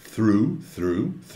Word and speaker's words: through: E through, o advérbio, atenção à pronúncia lá, through, é o som do TH, não vozeado, junto com R causa confusão, mas é through the night, a noite toda.